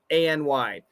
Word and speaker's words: any: What is the correct way to say ANY? Yeah, that's a great question. A short E, any. The first one, any. That's the best way.